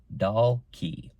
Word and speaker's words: Dulk: Their last name was Dulk, pronounced Doll Key. But teasingly, people called them Donkey. That makes sense.